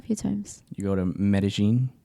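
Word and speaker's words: Medellín: in English, it's like Medellin. It's Medellin.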